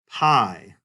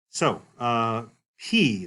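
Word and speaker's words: π: So, P, this is the name of this one. It's pronounced like the letter P, so no issues there.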